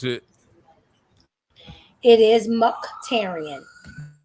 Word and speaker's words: Muktarian: Is that how I pronounce it? It is Muktarian. Muktarian.